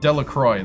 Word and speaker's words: Delacroix: Delroy. Delacroy. Trent Delroy. That's how you say it.